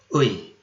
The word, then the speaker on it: 의: So I will go with U:I, which should be pronounced like a single syllable.